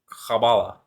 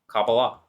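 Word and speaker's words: Kabbalah: chabala but you know in Hebrew you'd pronounce that cabala cabala H so anyway okay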